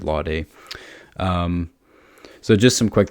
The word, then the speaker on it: Lawday: I just finished reading Danton, the Giant of the French Revolution by David, I think you pronounce it Lawday, David Lawday.